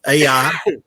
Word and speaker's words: Ai: the biblical town of Ai. What correctly should be pronounced. A is silent in Hebrew, much like the word pterodon.